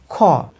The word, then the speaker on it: খ: এরপরে খ, এই খ কীভাবে উচ্চারিত হচ্ছে? কয়ের সঙ্গে হ ধ্বনি যুক্ত হচ্ছে। কয়ের সঙ্গে যখন হ ধ্বনি যুক্ত হচ্ছে এবং সেই সঙ্গে অধ্বনি তো থাকবেই, অধ্বনি ছাড়া তো উচ্চারিত হবে না।